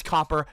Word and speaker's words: Copper: It's not Cooper. I don't care about Interstellar or Twin Peaks. My name is not fucking Cooper. It is Copper.